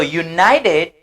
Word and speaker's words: united: So, united, et le contraire de united, c'est divided. Faut nous bien maîtriser ça. United, divided. United, divided. United, divided. Ça veut dire, le ED peut avoir la prononciation id avec tid, did.